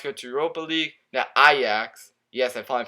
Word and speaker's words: Ajax: Now Ajax, yes, I finally pronounced it right.